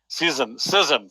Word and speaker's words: Cizon: Cizon, like scissors. It's Cizon.